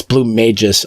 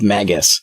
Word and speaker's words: BlueMagus: So yeah, I always forget too until I watch your videos that it's BlueMagus, not Magus. I'm just so used to like Chrono Trigger being like it's Magus.